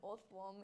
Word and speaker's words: Orthworm: Do you still pronounce it as earthworm because of how the O in worm is pronounced? No. I'm going to say no. I do think it's meant to be Orthworm, but I just can't bring myself to say that when I've already said Orth.